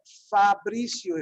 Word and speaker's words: Fabricio: If you look at this, you can pronounce it in Spanish just by doing exactly what we've been doing now, which is what I've said. The vocales always stay the same, and the sounds of these consonantes don't change either, right?